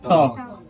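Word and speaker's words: talk: याद रखना है कि इसमें एल का प्रोनाउंसिएशन नहीं किया जाता है, इसको टॉल का नहीं पढ़ा जाता है, इसको क्या पढ़ा जाता है, टॉक।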